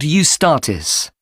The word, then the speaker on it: Eustatis: there's a performance by a ballet company called eustatis sorry the name is spelled e u s t a t i